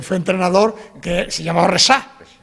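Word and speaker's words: Rexach: Y bueno, los del fútbol, que fue del Barça, que fue entrenador, que se llamaba Resá. Con X y se pronunciaba así, esa SH.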